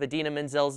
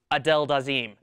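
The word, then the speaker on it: Idina Menzel: Travolta's hairpiece I mean his pronunciation of adena's name sounded something like Adel daim the wickedly talented one and only Adel daim wait what is that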